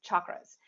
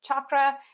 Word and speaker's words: chakra: in the yoga world I was taught by my mentors to pronounce the CH as a hard sound so it's pronounced chakra